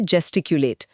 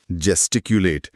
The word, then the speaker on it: gesticulate: अब हम तीसरे शब्द पर हैं और ये शब्द है जेस्टिक्यूलेट। स्पेलिंग है GESTICULATE। जेस्टिक्यूलेट।